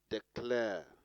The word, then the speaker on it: declare: on the second syllable declare declare placing on the second syllable career on the second